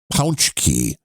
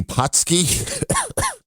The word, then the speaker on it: Pączki: and the answer was the correct pronunciation is pounch key this is how this is how the word is pronounced in Native Poland however it says Punchy